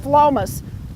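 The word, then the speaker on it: Phlomis: plant called flawless and it spelled pH LOM is and pronounced Philomath and it comes up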